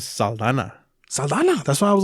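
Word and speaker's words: Saldaña: Zoe Saldana? It's Saldana. Word? They threw the ñ on the end credits on this one.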